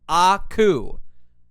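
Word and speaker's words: 悪: his name is Aku this kanji Japanese kanji for evil or bad means or is pronounced Aku right I was actually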